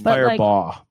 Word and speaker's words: Firebaugh: Fireball, even though it's spelled differently. It's Firebaugh. Firebaugh. Yeah.